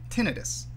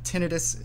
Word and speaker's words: tinnitus: for being sticklers uh the tinnitus is probably the more linguistically justified pronunciation uh but don't worry about it everybody's familiar with with the condition everybody who's familiar with the condition would know exactly what you mean if you use either pronunciation um the word itself